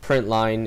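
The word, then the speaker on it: println: in java a lot print line is the way you pronounce that um and obviously when it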